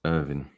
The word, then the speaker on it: Irvine: Collective terrible performance that Rodriguez played in it's pronounced Irvin what was I saying Irvine I one PTI